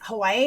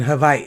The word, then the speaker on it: Hawaii: And then you have H, K, L, M, N, P, W, which is often pronounced like a V, but not always. Okay, so like in Hawaii, like Hawaii.